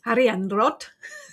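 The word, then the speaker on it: Arianrhod: I had to interview Christopher Hughes and Mara Starling, so I had to practice the Welsh pronunciations. So I can say Ariandrod. Christopher and Mara helped me greatly with the pronunciation of that.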